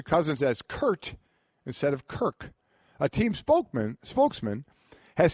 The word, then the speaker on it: Kirk: the team's website, he kept calling him Kurt. Not Kirk with a K, but Kurt with a T.